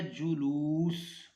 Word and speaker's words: جلوس: رہے ہیں وہ ہے جلوس۔ تو اس میں پہلے دو حرف مضموم، آخری دو ساکن جیسے خلوص۔ اب جلوس کے وزن